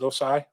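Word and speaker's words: Ossai: uh osai from uh is that how you pronounce it osai yup from texas and i if i'm not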